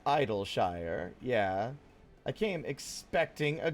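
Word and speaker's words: Idyllshire: Yeah, like ideal.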